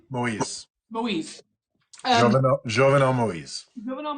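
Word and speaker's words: Moïse: Moise, Moise.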